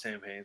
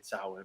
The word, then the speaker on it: Samhain: remembers the last samhain not pronounced samhain salwin but whatever and oh